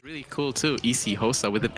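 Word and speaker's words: isiXhosa: I don't know like I know it's pronounced easy HOSA but I don't know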